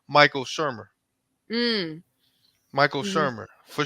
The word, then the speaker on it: Michael Shermer: Michael Shermer for sure.